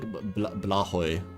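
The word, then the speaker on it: Blåhaj: I think it's actually pronounced like Blahoy or something in Swedish. I think Joel pronounced it once.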